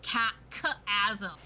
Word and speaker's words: chasm: What are you going to do with the remains of I think these it's pronounced wizards? chasm. Oh, I've been saying it wrong. It's my bad. The chasm.